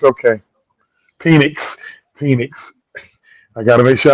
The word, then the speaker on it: Penix: If we draft Michael Penix, okay. Penix. I got to make sure I say his name right. Penix.